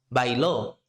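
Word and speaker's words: bailó: talking about conjugations um there's a slight difference in the pronunciation um if you are saying I dance that's Bilo but but if you want to say she danced he danced it danced in the past that's by law that's by law that's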